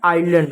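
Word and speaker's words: island: आइलैंड होता है।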